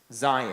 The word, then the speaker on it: Zion: How do you pronounce Zion? Zion.